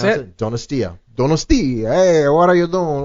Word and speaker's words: Donostia: And if you are truly cool, you'll have this bonus track that's called Donostia. Is that how you pronounce it? Donostia. Donostia.